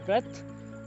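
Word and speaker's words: breath: जैसे कि इस वर्ड को हम बोलते हैं ब्रेथ और इस वर्ड को हम बोलते हैं ब्रीथ, तो दोनों में प्रोनाउंसिएशन का भी थोड़ा सा डिफरेंस है और मीनिंग का भी डिफरेंस है।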